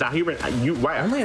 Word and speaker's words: Hugin: Oh, it's Hugen. I pronounced that name incorrectly the whole time. You didn't correct me once. Yes, wow, it's so Hugen. Hugen. This entire time I was just like, oh, Norse it's spelled like Huggins, and so I'm just gonna say Huggins. You know, it's like a cute name.